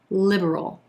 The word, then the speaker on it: liberal: number 17 liberal liberal we've got three syllables here with our emphasis on that first syllable and the e as in silver vowel sound liberal liberal our second syllable is a super quick er sound moving then into the dark l liberal liberal that second syllable is so quick that a lot of times what you'll hear some people say is liberal liberal with two syllables liberal liberal his political